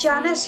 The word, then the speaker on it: Janis: Yeah, it's Janice.